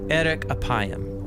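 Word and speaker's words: אֶרֶךְ אַפַּיִם: In Hebrew, the phrase slow to anger is pronounced erek apayim, or literally long of nose.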